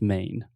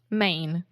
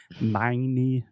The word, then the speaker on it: Maine: in e in English we don't pronounce the E the E is silent so just main main exactly I don't want to hear any of our students saying my knee or anything like that